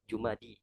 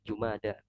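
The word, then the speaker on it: جمادى: ya selamanya tidak berharakat jadi cara bacanya jumada Alif Ul jumadaani jadi jumada ya ana belum pernah dengar orang Arab nyebut Jumadi ya yang ada jumada wallahuam Ustaz na Nam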